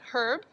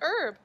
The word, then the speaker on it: herb: remember friends that an herb oh it's got that tricky h in there do you see that some people in some places pronounce it herb some people pronounce it herb so our herbs are